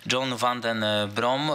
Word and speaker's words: John van den Brom: zakończymy ten program John tak się okazuje wymawiamy jego imię John Van Den brom mówił przede wszystkim optymistycznie